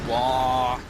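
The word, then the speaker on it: Waaagh: there is now the, I'm going to mispronounce it, but wah, you know. No, that was about right. Yeah, people were getting on me because there's no G in it. There's a G there.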